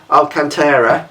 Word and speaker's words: Alcantara: The main reason with the Alcantara, that's how you pronounce it, sorry, is it's like a suede covering that goes around the wheel.